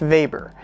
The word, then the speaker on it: Weber: This whole idea originates with Max Weber, and yes, it's pronounced Weber, and he tried to figure out where capitalism comes from.